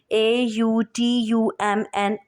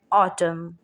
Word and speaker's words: autumn: हमारे पास वर्ड है कि अगर एम एन से पहले हो, यानी N comes after M, सो N will be silent. जैसे कि ये फर्स्ट वर्ड है DAMN, डैम। AUTUMN, ऑटम, autumn, HYMN, hymn, COLUMN, column.